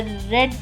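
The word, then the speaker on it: read: यहां पे डिड के साथ रीड स्पेलिंग सेम होती है। लेकिन सेकंड और थर्ड फॉर्म को हम रेड पढ़ते हैं। डिड आई रीड a book? Did आते ही रीड हो जाएगा।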